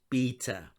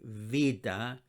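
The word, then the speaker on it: βήτα: the letter vida you probably know it as beta or beta but us greeks call it a vida and the sound it makes is a v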